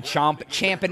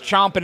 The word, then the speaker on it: champing: Everyone says chomping at the bit. I know, but it's champing. Horses champ. Humans chomp.